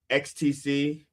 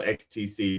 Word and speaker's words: XTC: XTC. It's spelled XTC, even though it sounds like ecstasy.